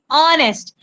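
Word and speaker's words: honest: देखिए बेटे ये जो एच है यहां पे एन एच ओ एन ई एस टी ऑनेस्ट तो ए होनेस्ट क्यों नहीं पढ़ रहे हैं हम? बिकॉज़ ए साइलेंट है यहां पे। हम इसको प्रोनाउंस ही ऐसे करते हैं। ऑनेस्ट में है। तो ये जो ओ से स्टार्ट हो रहा है ना ऑनेस्ट। तो ये वोवेल की साउंड दे रहा है।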